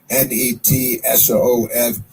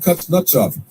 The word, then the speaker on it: Kuznetsov: It's Kuznetsov, and I believe it's pronounced Kuznetsov because it's a Russian thing.